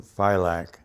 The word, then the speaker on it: Philak: is or philak the last scene pronounced like lilac i was born in cleveland ohio in 1927 july july 12 1927.